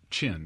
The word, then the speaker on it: Chen: Yeah, Chen, not Chang. Sorry. Chen.